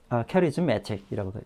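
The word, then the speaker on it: charismatic: 그래서 액센트가 여기 오기 때문에 이걸 캐라고 읽으면 안 되고 커리즈마라고 읽어야 되죠. 캐리즈매틱이라고 읽습니다.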